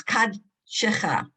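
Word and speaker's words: קדשך: This is a hard one because it's two that are, it's Kadshecha. You hear the dalit with the kuf.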